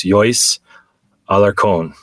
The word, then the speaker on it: Johis Alarcon: And one of the first ones that we shared is a woman in Ecuador, and her name is Johis Alarcon, and it's spelled JOHIS.ALARCON.